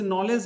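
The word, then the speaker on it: knowledge: के साइलेंट है जैसे नॉलेज है जैसे नॉलेज हो गया जैसे नॉलेज हो गया के एन ओ डब्लू एल ई डी जी ई नॉलेज तो इसमें देखो के भी साइलेंट और डी भी साइलेंट तो इसमें ऐसी ऐसी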